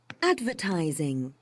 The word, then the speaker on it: advertising: is it advertising yes is it on the Ying or the syllable before it TI tiing yeah the the third one the ti right listen to it one more time advertising advertising so tiing the one after the the T because here remember we have four syllables advertizing four four the third syllable is the one which is stressed in this words okay okay okay and